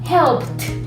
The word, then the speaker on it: helped: Nada más que aquí la pronunciación es con T. Entonces sería helped, looked.